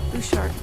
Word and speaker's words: Butchart: What do you pronounce it? Bouchard. Bouchard.